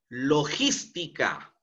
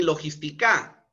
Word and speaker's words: logística: Logística. Logística. No es logística, ¿no? Ni logística, sino es logística. Es una palabra esdrújula, tiene que ser tildada, ¿no?